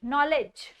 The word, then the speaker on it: knowledge: इसकी प्रोनाउंसिएशन रहती है लेज. वर्ड्स पढ़ते हैं कुछ. KNOWLEDGE, नॉलेज.